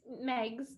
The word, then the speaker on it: Meigs: house actually and bridget did i pronounce that right it's meg's megs yep okay i was giving it